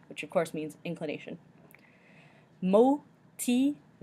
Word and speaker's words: motivation: Motivation, motivation, motivation. Again, we have that I in between the T and the V that sounds like E, moti, and then we end with the sion sound at the end.